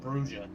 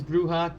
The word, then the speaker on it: Brujah: I assume it's pronounced Bruha, by the way. Not Brua.